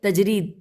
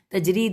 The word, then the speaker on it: تجرید: چھوٹی نے اپنی شرح تجرید تے جیم رے یہ دال تجرید میں صفحہ نمبر 382